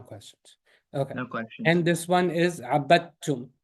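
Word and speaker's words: عابدتم: And this one is abattum, right? The dal is going to not be pronounced. Why? Because it's empty and there's a shadda after it.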